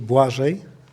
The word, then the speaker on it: Błażej: You should say Błażej. Błażej? It's Błażej? Blaze in English.